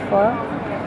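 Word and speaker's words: phở: En fait, ça s'appelle un pho. Ça s'écrit pho, mais ça se dit pho.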